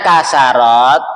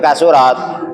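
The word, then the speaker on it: كثرت: Antum bacanya kasarat atau kasirat atau kasurat? Antum pertama tadi bacanya apa? Nah, iya salah. Yang betul kasurat. Nah, ikut wazan faula bab keenam.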